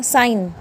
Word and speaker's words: sign: SIGN ये क्या हो गया, साइन। यहाँ पे जी नहीं बोला जाएगा बेटा, क्या बोला जाएगा, साइन। जो आई है उस पे प्रोनाउंसिएशन पूरा दिया जाएगा, उस पे पूरा जोर दिया जाएगा, तो साइन, और जी को नेग्लेक्ट कर देंगे।